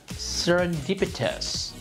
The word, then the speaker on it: serendipitous: And the word that troubles me the most is serendipitous. This is an adjective and it means by chance. This word is not easy to pronounce. Serendipitous, 5 syllables with stress on the third.